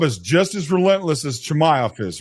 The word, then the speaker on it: Chimaev: Chazmot. I don't know if I'm pronouncing that right, but Chazmot. He might be a force for a while. Chimaev? Yeah, Chimaev. I was saying it wrong, but yeah, because he's